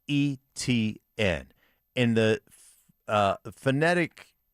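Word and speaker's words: Etienne: I have done so many Jacksonville games and it's not ATN, it's eN. and the uh phonetic pronunciation that the Jacksonville Jaguars give us as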